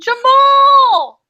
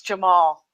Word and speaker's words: Cemal: Jamal! Yes, that's how you pronounce it. Priscilla corrected me. I was like, Jamal. She goes, no, it's Jamal.